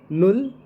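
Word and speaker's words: null: means nothing zero तो zero को कभी भी जर्मनी में प्रोनाउंस करते हैं तो उसको नुल कहते हैं नल एन यू डबल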